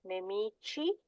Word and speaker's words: nemici: So these do not take the pronunciation of the K or the G, they actually take the Ch with the soft I sound.